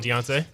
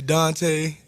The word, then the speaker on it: D'Anta: Right, because like obviously, so yours is Deontay. Yeah. How many people pronounce it like Deonta or mess it up? Deonta. They call me Dante. Donta.